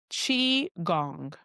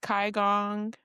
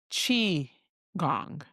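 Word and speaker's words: qigong: Chi gong. And I practice that pronunciation. So don't worry. It's not kiong. It's not kiong. It's chi gong.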